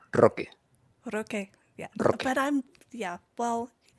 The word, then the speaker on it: Roque: roll that R again. Say his name for me one more time. Roque. Roque. It needs more strength. It's Roque.